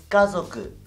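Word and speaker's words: 家族: Familia es kazoku. Kazoku, no kazoku. Kazoku. Acuérdate que la Z se pronuncia como el zumbar de una avispa. Zzz. Kazoku. Kazoku. Acento en la primera A.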